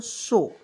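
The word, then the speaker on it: show: एच ओ डब् तो इसे क्या पढ़ेंगे दोस्तों शो एस एच ओ डब् पढ़ेंगे दोस्तों शो पढ़ा जाएगा क्लियर ओ को इसमें साइलेंट रखा जाता है उसके बाद देखिए एफ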